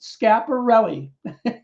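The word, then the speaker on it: Schiaparelli: italian astronomer giovanni vergino scarpelli pronounced scaparrelli so given giovanni created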